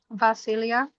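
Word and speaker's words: βασιλεία: Vasilia. Okay, super close. Where is the stressor? On the iota at the end.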